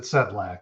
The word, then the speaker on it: Sedlacek: yeah you know no it's actually the e that throws people off for 50 years i've i've i've heard sedlasek and for some reason we pronounce it setblack so it doesn't yeah